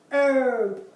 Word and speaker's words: herb: have the word our herb there the H is there but it's not pronounced so sometimes in English